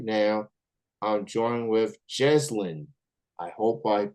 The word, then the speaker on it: Jezzlyn: all streaming platforms right now I'm joining with j JN I hope I pronounced your name correctly how's it going it's good thank you for having me yes it's just yeah yeah some sometimes I tend to